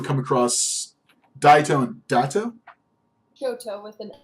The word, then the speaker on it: Shoto: Shoto with an S.